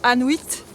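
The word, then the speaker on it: Annuit: Et à savoir qu'il y a un petit hameau ici qui s'appelle Anuit. Ça s'écrit A2N-U-I-T, ça sonne comme Inuit.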